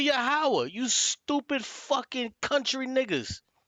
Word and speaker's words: Yahweh: Why you ain't cut this nigga off and said, no, it's not Yod-Heh Wav-Heh, it's actually Yahweh, you stupid fucking country niggas.